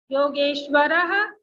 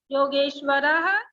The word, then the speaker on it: योगेश्वरः: आप जब शब्द, आपने आंसर सही दिया था, बट शब्द जब बोलते हैं तो जो ह का हलंत है उसका उच्चारण हमें शब्दों में चाहिए। ओके, आपने क्या Yes, कहा ma'am. था? योगेश्वर कृष्ण, लेकिन ऐसा नहीं, इसको पूरा बोलिए, एषः योगेश्वरः कृष्ण।